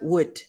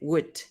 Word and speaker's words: would: Se pronuncia would. W-U-D, would. No pronunciamos la O, no pronunciamos la L.